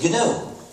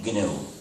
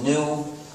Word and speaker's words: GNU: but it still is gnu and it will always be gnu so please be careful not to pronounce it new don't say it as